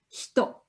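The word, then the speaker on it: 人: In Japanese, this character would normally be read hito. That's the Japanese word that has the meaning of person. And therefore, the character that means person is read as hito.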